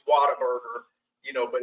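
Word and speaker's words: Whataburger: around the world might not know it's called water bger it's pronounced water bger you know but it's spelled what a burer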